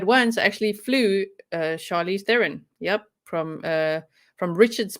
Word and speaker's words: Charlize Theron: head um but once i actually flew uh charlize theron yep from uh from richard's bay to johannesburg